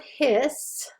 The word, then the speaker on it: His: and the bundle of hiss only one s when you spell it remember it sounds like two s's sounds like you're hissing like a snake but it's only one